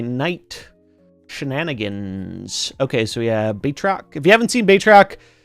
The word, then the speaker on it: Batroc: Batrock.